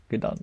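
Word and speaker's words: Gdańsk: Can't pronounce that. Yeah. It's Gdansk, you know? Gdansk.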